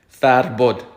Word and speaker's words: Farbod: how you do it it's basically three syllables first one fat like open your mouth fat second one not rolling but a hard r third one bud farbod farpod that's my name